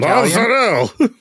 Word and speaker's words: mozzarella: Steve, can you give us a good pronounced mozzarella in Italian? Mozzarella.